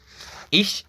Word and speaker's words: ich: Ich, ça veut dire je. Retenez en fait que la prononciation en allemand est très importante et très capitale aussi.